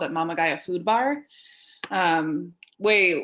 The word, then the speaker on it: Mama Gaia: Mama Gaia. Okay. People pronounce it wrong all the time.